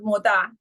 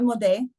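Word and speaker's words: מודה: According to some poskim, a lady should pronounce the initial word moda, not modeh.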